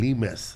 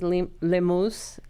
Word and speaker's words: Lemus: Well, that is the way it's supposed to be pronounced, but everybody I've met whose name is Lemus pronounces it Lemus, including my son's teacher.